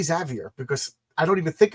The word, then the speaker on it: Xavier: I should say exavier, but I I just say Xavier because of the the one person that I that I know, you know, it it just automatically I don't even think about it.